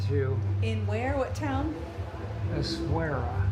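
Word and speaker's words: Essaouira: Essouria. Essouria.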